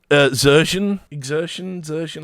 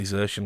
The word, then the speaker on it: Xertion: Anyway, so I don't really rate Exertion. I say Xertion because that's how you used to pronounce the Source player who had that name.